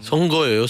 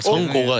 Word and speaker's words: 선거: 선거예요, 선거예요. 선거. 선고가 아니라 발음이 안 그래요?